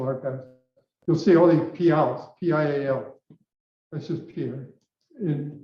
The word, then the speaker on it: Pial: it's Native American pronunciation for Pierre. Pierre. Yeah, P-I-E-R. Yeah. Yeah. Oh, And that's in the coastal Salish, it's Pial, P-I-A-L.